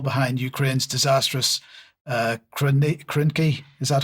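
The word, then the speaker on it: Krynky: Uh it's headlined uh UK intel behind Ukraine's disastrous uh ki krinki. Is that how you pronounce it?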